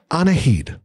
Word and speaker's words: Anahid: your how do you say your first name anaheid thank you anaheed do you like to be called anahit